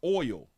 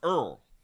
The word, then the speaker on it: oil: The teacher should have been out here teaching y'all that um oil is is pronounced oil. And it's not pronounced Earl.